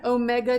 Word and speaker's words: omega: d equals a sine omega t this little w is pronounced omega or d equals cosine